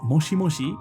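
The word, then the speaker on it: もしもし: kind of thing um one thing to note is that you can actually say this as moshimoshi right right very clearly the same sound moshimoshi but here aerith actually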